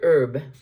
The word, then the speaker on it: herb: Professor Herb or Herb. In America, most of us say herb. In Britain, where the English language originated, sort of, It's herb. They pronounce the H.